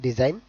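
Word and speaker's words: design: Then డిజైన్, ఇక్కడ కూడా మనకి Nకి బిఫోర్ G ఉంది, సో దీనికి ప్రొనౌన్సియేషన్ డిజైన్.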